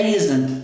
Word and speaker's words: isn't: É isn't. Mas olha o T agora novamente entre vogais. Então vai virar it isn't.